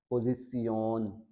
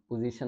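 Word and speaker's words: Position: इसी तरह same next जो है पोजिसियोन, पोजिसियोन, पोजीशन नहीं पढ़ा इसको हमने।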